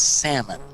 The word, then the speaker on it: salmon: yeah gone salmon on our screen shame it's salmon the L is silent Bill speaking of Silent this is a